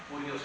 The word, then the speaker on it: Kyrios: Adonai lo traducían como Curios con K, o Kyrios lo pronuncian algunos.